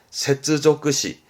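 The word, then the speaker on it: 接続詞: 세츠조크시.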